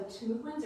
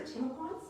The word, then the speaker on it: Timucua: The ones we first start to hear about with European explorers are the Timucuans or Timucuans, depending on your pronunciation choice.